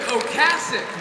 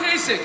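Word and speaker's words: Ocasek: never forget your first Rick oasic not oasic you're all saying it wrong Rick oasic found basis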